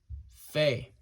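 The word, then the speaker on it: פ: next we come to the letter Faye Faye all right and this makes the F sound and this also has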